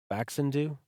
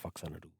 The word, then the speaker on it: Faxanadu: Although, what did Tori call it? Faxandu? Yo, bro, you want to eat some Faxandu? Yo, bro, get that paperwork together. We're going to fax and do it tonight. But I think Chris, the other playing partner I've had on Metroid and some other games, Super Mario 3, I think he's always called it Faxanadu. And he likes to pronounce things correctly.